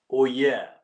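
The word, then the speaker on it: oyez: in the UK is the French one, oh yeah, O-Y-E-Z is how it is spelled.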